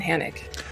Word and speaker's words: Hanok: It's pronounced I. Hanok.